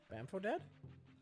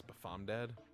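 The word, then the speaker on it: BafomDad: Bamfo dead? I believe it's Bafom dead. And I'll thank you to pronounce it correctly.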